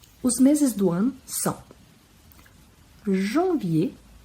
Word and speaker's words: janvier: Os meses do ano são janvier, lembrando que o AM tem som de an, e esse R no final vira como se fosse um acento circunflexo. Janvier, février, o E bem pronunciado no início porque tem um acento agudo.